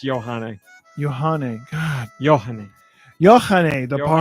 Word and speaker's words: Yohane: Yohane the Parhelion. Numazu in the Mirage. trying to get it out there. DD Yeah. Mega Doo-Doo. Did I say it right? It's Johanne.